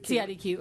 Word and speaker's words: CIDQ: CIDQ.